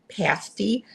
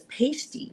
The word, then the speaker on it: pasty: And then she mispronounced the word pasti, which is a meat pie. Meat pie, but she pronounced it as pasty, which, you know, stripper tassels.